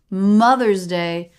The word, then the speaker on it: Mother's Day: Mother's Day. So in that two-word phrase, that two-word concept, Mother's Day, we've got stress on the first syllable.